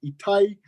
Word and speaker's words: Etai: I pronounce itai.